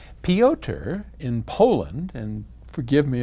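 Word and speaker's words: Piotr: peoter in poland and forgive me if i have butchered your name i assume it's some version of peter it's p-i-o-t-r pyotr anyway he writes to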